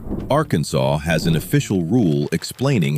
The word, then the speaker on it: Arkansas: Arkansas has an official rule explaining how to pronounce Arkansas. It specifies the silent final S, the syllables, and even discourages the pronunciation that sounds like Arkansas.